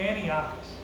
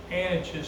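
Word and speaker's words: Antiochis: given a present to Antiochus, the king's concubine. and I pronounced that name wrong. It's Anichus, the king's concubine.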